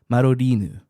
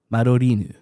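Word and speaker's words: Madoriinu: wanted to make a quick clarification the Japanese pronunciation of mine's name in the original uh Japanese text for the game is actually marinu that is romanized that would be m a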